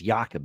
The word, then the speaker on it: Jacob Silverberg: all right that's a Jacob silverberg I think is yakob if you're going to pronounce it in Swedish but yeah yakob silverberg